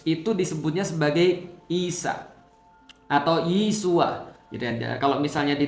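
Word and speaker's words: ישוע: Kalau misalnya di dalam Katolik pernah dulu saya diajarkan Yesus itu bahasa Ibraninya adalah Yesua. Nah, Yesua. Nah, jadi Yesua itu ya bahasa Ibrani ya. Kalau dalam bahasa Aramaik, bahasa Aram, itu bacanya Yesu.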